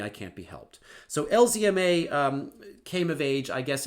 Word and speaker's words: LZMA: as a proud Canadian, I generally pronounce this character correctly, that is to say, I pronounce it as Z. But unfortunately, for better or for worse, I can't be entirely consistent, so I'm part American, and when I pronounce certain acronyms, I just can't stand saying the Z. LZMA just trips me up. So I'm going to say LZMA.